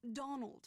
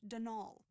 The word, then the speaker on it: Donal: That was the caretaker, Denol Delaney, not Donald, mind you. There's no D at the end, so it's pronounced Denal.